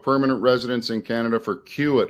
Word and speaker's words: CUAET: residents in Canada for qit holders that's the way I pronounce this this acronym that the uh Canadian government came up with we'll get into